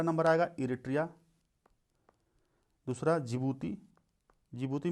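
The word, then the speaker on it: Djibouti: आएगा इरिट्रिया दूसरा जिबूती जिबूती में डी साइलेंट है ठीक है तीसरा सोमालिया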